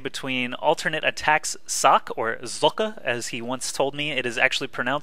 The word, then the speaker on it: Socke: it is actually pronounced if you're German like he is that is how you should pronounce it but I'm probably just going to stick to Sock because I'm American and